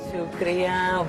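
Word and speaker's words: شکریہ: Shukriya, Bo Shukriya, thank you very much.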